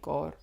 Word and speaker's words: Gore: But you have to roll your R's when you say Gore, don't you? Gore.